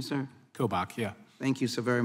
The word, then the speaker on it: Kobach: general kobach am I getting it close to pronunciation sir kobach yeah thank you so very much um I've